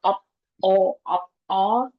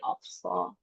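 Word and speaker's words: 없어: Nah, misalnya misalnya opso di sini jadinya op sama ops bukan op o tapi ofso.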